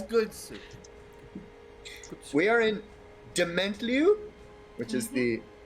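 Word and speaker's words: Dementlieu: dementliu which is the don't question us on the pronunciation there that's how you say it that's how everyone says it it is definitely thank you you gotta really like you have to really french the the last syllable dimini uh there is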